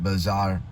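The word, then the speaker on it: Beaux-Arts: TS as in like b r but they pronounce it bzar it's a cross between neoclassicism uh Renaissance and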